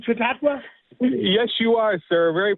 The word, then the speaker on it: Chautauqua: And am I getting better at pronouncing Chautauqua?